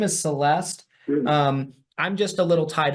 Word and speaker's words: Celeste: Okay, can you spell that? Her name? Yeah. Yes, it's CELESTE.